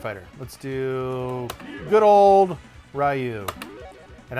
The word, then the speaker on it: Ryu: Let's do good old Ryu, and I pronounce it Ryu because I'm 40.